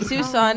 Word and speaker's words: Tucson: Nope, I thought it was Tuscan. Oh, okay. And then I had to look up how to pronounce it.